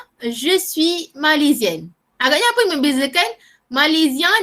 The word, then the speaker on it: malaisien: Satu S bunyi dia macam huruf Z. Okay? Je suis malaisien.